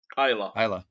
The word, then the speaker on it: Islay: do one in another Scotch, one of the Isleys. Yeah. Did I pronounce that right? Islay.